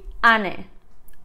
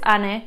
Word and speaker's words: Ane: it's kind of like beautiful mari number 15 ani i mean if you couldn't tell this is